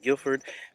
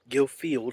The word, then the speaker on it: Guildfield: here and we are here at guilford guilfield excuse me for pronouncing the wrong baptist church um this